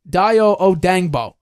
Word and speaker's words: Dayo Odeyingbo: First of all, pronunciation, Dayo Odeyingbo.